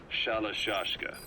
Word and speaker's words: Shalashaska: the end of shashka the gorillas were using the name amongst themselves by the time I got to hearing about it pronunciation had wound up as shalashaska so half gulg half